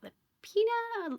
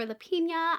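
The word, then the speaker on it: Lapena: And finally, on July 30th, we are getting the next book from Sherry Lapina or Lapina. I have heard both pronunciations.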